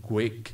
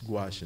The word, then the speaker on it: gouache: Yung kung siguro kung hindi niyo alam yung spelling yan, yung pronunciation yan, baba ang basa niyo yan, yung quake, no? No, ang pronunciation yan is gouache, no?